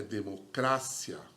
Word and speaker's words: democracia: Em espanhol, é democrácia. Tá vendo? A sílaba tônica é o cra, né?